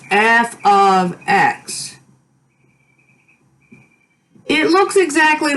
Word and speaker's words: f(x): This is supposed to be pronounced f of x.